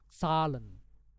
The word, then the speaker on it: Zahlen: Nah, ini bacanya kayak Z itu ganti aja kayak huruf TS. Jadi sal, sal. Jadi salen, salen.